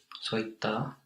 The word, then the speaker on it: soittaa: Soittaa, very good with the two A's. And guitar? Kitaraa, yes, very good. It's very important to pronounce the both vowels.